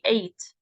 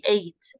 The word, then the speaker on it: ate: But this verb, we ate, the past of the verb eat, we pronounce it as the number 8. We ate. We ate some cheese.